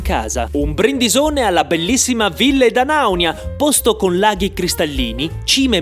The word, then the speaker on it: Ville d'Anaunia: Un brindisone alla bellissima Ville Danaunia, posto con laghi cristallini, cime maestose e salami dai nomi strani. E questa è Ville Danaunia.